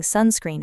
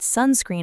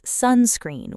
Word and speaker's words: sunscreen: Some people say, I put sunscreen on my face, but pronounce it as sunscreen with equal stress on both parts. That's right. Native speakers usually stress the first part more.